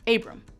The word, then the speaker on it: Abram: All of a sudden, the Bible stops talking about all of humanity and focuses in on this guy, Abram. Yes, I said it right.